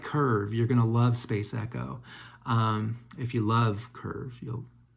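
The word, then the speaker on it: SPC ECO: And it's spelled SPC space ECO, and it's pronounced Space Echo.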